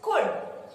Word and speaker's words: could: ऐसे ही दो शब्द और हैं, वुड एंड कुड, COULD, इट्स कुड।